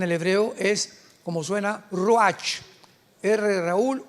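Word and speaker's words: רוּחַ: Apunta la palabra espíritu en el hebreo es como suena roach. Raúl u a c h. Pero la ch en el hebreo se pronuncia como j. Roaj.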